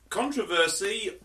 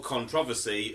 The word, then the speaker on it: controversy: in tonight's discussion, because controversy, or controversy as it's actually pronounced here in England, is prolonged public disagreement or heated discussion.